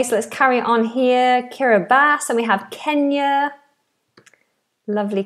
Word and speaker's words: Kiribati: Krishna is saying that pronunciation you hear is Kiribati, I've heard, not Kiribati.